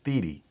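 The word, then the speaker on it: Thiede: there yeah my last my last name is feedy t-h-i-e-d-e d no one ever pronounces it right don't worry i even sound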